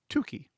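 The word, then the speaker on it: Tukey: this example and remember it's pronounced to key not turkey well let's use a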